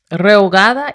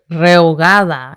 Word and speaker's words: rehogada: That's why it says rehogada y cocida, because Renata said rehogada. What did you say? Rehogada y cocida. It sounds like the word hogada, and I hate tortas ahogadas.